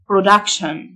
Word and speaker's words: production: إنتاج production، T-I-O-N تنطق شن، production.